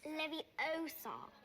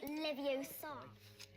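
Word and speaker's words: Leviosa: or exploiting his clumsiness you're saying it wrong it's Levi Oar not Levi Oar e slugs another recurring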